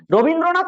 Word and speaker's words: রবীন্দ্রনাথ: এই রবীন্দ্রনাথ উচ্চারণ করতে গিয়ে আমরা কেমন উচ্চারণ করছি না, র বিন দ্র নাথ, র বিন দ্র নাথ। এখানে র একটা অক্ষর, র একটা অক্ষর, বিন একটা অক্ষর, দ্র একটা অক্ষর, আর আর নাথটা একটা অক্ষর। তাহলে বর্ণ কি কি আমরা